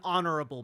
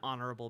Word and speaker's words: honorable: same same thing an honorable man you don't say a honorable man an honorable man because the H is silent English is a silly